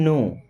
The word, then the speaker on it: know: करो you don't even नो हाउ to prepare T U miss आप don't मीस नहीं इवन का मतलब यहां तक की नो मीस होता है जानना यहां पे के साइलेंट होता है ओके यू डोंट इवन